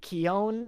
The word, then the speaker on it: Keoghan: But no, yeah, he just like because I found out that like Barry Keoghan, is that how you pronounce his name?